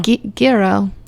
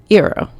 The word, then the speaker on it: gyro: Giro. Just don't think the E or the G doesn't exist. Eero. No, it does exist. I know it exists, but when you pronounce it, it doesn't exist.